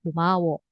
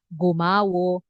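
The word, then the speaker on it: 고마워: kata seperti contoh kata kumawo kumawo kan teman-teman pasti dengarnya bukan gomawo gamsahamida pasti kan teman-teman dengarnya lebih ke k kan seperti itu Jadi huruf g ini ketika dia mengawali sebuah kata maka eh pelafalannya atau terdengarnya itu lebih ke k seperti itu k k gitu ya Kayo hanggu ge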